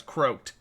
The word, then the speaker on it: Croak: Like a frog croaks, or a dead person has croaked. That's why he's Lord Croak. I say Croc just because it's an old habit. But if you're asking specifically how to pronounce it, it's Croak or Croak.